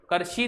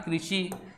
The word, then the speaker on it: कृषि: कृषि, करशी नहीं, क्या पढ़ेंगे? क्री, री है ना, तो उच्चारण में कृषि।